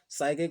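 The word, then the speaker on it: psyche: जिसमें साइके का अर्थ होता है मित्रों आत्मा, यानी साइकी। साइकी का मतलब क्या होता है मित्रों? आत्मा। प्रोनाउंसिएशन के ऊपर है, कोई साइके बोलता है, कोई साइकी बोलता है।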